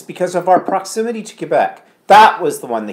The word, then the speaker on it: Quebec: of our proximity to Quebec that was the one they couldn't say they were calling it Quattrone Aquabats Kubek or Quebec Quebec no no no